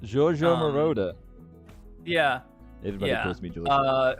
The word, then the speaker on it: Giorgio Moroder: Is that how you pronounce his name? Giorgio Moroder.